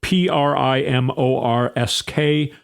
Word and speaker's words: Primorsk: It's spelled P R I M O R S K.